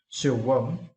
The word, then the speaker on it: silkworm: And for this word, you need to stress the first syllable. Silkworm.